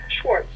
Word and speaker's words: Schwartz: Schwartz. Schwartz. I gave you the Yiddish Yeah, pronunciation. it would be SCH. Yeah, WARTC.